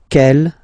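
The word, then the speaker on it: quelle: same way and then the feminine form is written like that cu l l but it's pronounced like the masculine form ke at the masculine ke at the feminine okay so it's basically same pronunciation okay and then here we've got two examples.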